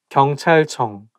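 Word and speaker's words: 경찰청: department cyan police department so i think it's because ch sound like when it's placed next to each other i think it's going to make the world not easy to pronounce and it also has eun sound at the end of each character channel but you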